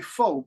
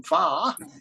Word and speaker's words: pho: In English, we say pho, P-H-O, but you have a different pronunciation of this famous soup, pho.